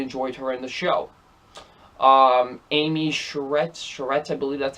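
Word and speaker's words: Amy Sedaris: Amy Sherretts, I believe that's how you say her name.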